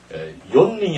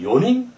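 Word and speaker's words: よにん: 링으로 발음하게 됩니다 그다음에 네명은 요이 아니라 요닝 하는 점에 조심해야 됩니다 우리 어 과에서 4년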